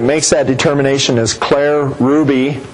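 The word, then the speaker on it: Hruby: Gene points out that the person in the Iowa DNR that makes that determination is Claire Ruby, and Ruby is spelled H-R-U-B-Y.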